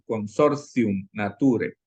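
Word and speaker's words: consortium naturae: consortium nature en latín la a y la e vean que está muy juntita se pronuncia como una e y la t cuando está precedida de una consonante y luego sigue una vocal se pronuncia como una Z casi consorci nature del Papa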